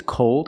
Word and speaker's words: cold: The first word is called, it's open, and the second word is cold.